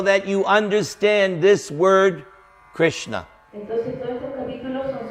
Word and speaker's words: Krishna: Krishna means it's 2 syllables. Krishna significa son 2 sílabas.